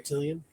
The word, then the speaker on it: septillion: Septillion. I am, yeah. It rhymes with reptilian.